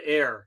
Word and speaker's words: Ayr: Is it Air? Air? Okay. It's Air, Ontario.